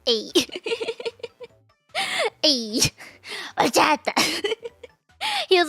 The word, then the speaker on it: horchata: As long as you don't say it like that, then everyone's gonna think it's cute. He says you have to say the ending right. It was the ending that's the important part.